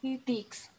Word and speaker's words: dix: Igual el 6 y el 10, si te das cuenta, terminan como con una X. Entonces, el 6 lo pronuncias como cis y el 10 como dis.